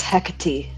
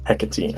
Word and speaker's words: Hecate: I don't know how to pronounce that name. I'm sorry. It's Hecate. Hecate.